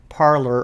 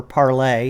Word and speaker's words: Parler: But here's actually something I wanted to share with you that I wrote on the social media platform Parler, or Parlay, however you want to pronounce that.